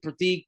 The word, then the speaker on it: Prateek: And also I pronounce it Pratik, but there's no like th makes a th sound. That's just how the language the culture that's just a language.